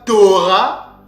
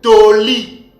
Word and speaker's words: Torah: mes frères et sœurs ce mot-là ne se lit pas Tora mais nos pères le prononçaiit toli toli ok ce motl